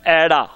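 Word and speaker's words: ਐੜਾ: इस तों अगे दूसरा लफज है ऐड़ा, ते इहदे उच्चारण विच अड़ाड़ा जिहड़ा ध्यान नाल बोलना है, ऐड़ा ऐड़ा, नाल ना तुसीं मिटाई जाओ।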